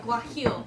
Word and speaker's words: guajillo: Wait, guajillo. You have to go from the throat like Guajillo.